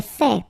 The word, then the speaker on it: fait: J'ai fait. So remember, final T is not pronounced.